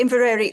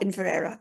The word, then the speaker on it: Inveraray: You can actually say invereri or inverera. either is perfectly acceptable. Inverera is from the the gaic which is inver and era which is the river the mouth of the river.